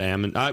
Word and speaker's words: Amundsen: I thought you pronounced it Amundson. I pronounce it Amundsen. Well, actually, it's fucked forget. up. I mix it up. My grandma had 2 brothers, and one family pronounces it Amundsen and one pronounces it Amundsen.